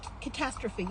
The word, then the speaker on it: catastrophe: Catastrophe. Yeah. Okay, and it's just Creole in the Bahamas messes me up sometimes. Accent on the wrong syllable.